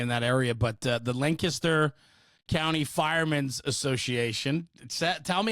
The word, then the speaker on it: Lancaster: not from Pennsylvania in that area, but the Lancaster County Firemen's Association. Tell me how I said it wrong. Go ahead, correct me. It's the Lancaster County Firemen's Association.